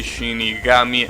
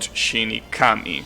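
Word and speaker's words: 死神: that has two kanjis, the first kana of the second kanji has the pronunciation altered. So you say Shinigami and not Shinikami, right?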